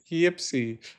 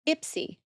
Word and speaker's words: Ipsy: Yipsy. Oh no, that's not right. I actually pronounced it wrong.